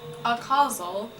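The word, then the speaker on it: acausal: how to pronounce it let's look that up actually a causal okay a causal okay thank you thank you google seems it can also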